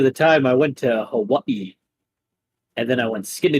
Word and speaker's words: Hawaii: Reminds me of the time I went to Hawaii. And then I went skinny dipping in a volcano. Do you Good mean times. Hawaii? No, it's Hawaii. That's actually how it's pronounced. Vowels are pronounced differently, you goddamn New Yorker.